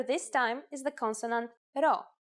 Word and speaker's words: ρ: Our first letter this time is the consonant ro. Its sound is r and is exactly like the English R.